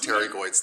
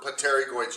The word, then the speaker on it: pterygoids: it um it it it's spelled pottery goings but it's pronounced pterygoids the p is silent you're right me and